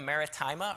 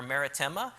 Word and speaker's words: Maritima: the Bible as um you can pronounce it a couple different ways cesaria maritima or marittima which means Maritime is